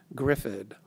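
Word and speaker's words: Gryffyd: as well as three kids three boys the first son named was named Griffin which is a sort of an odd name I'm going to spell it for you gry f FY D Griffin you see like kids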